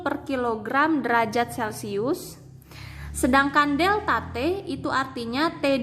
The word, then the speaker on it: delta: mcm2 * CD kali deltate ini bacanya Delta Hai nah bacanya Delta yah rumusnya Q = m